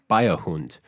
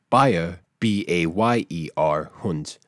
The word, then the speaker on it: Beiherhund: with the next one biohunt which it's spelled b-e-i-h-e-r-h-u-n-d however it sounds like bayer b-a-y-e hunt bavarian dog remember how i